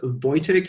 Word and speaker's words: Wojtek: It's pronounced Wojtek. You spell it Wojtek, and it's Voy like in voyage and tech like in technical. It's a Polish name.